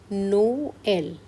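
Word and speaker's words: Noël: So here we have to pronounce both the vowels individually. So the sound would be no-L.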